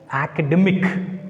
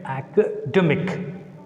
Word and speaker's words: academic: And see the second one, academic, academic. We should put stress, draw stress on the penultimate syllable because it ends with IC.